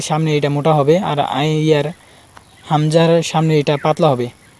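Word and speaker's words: ي: এবার ইয়া, ইয়া স্বাভাবিক উচ্চারণ হবে, জিহ্বার মধ্যখান তার বড় উপরের তালুর সাথে লেগে উচ্চারণ করতে হবে।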